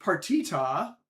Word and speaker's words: Party-Ta: Partita, that is the word party followed by a dash followed by the the syllable ta.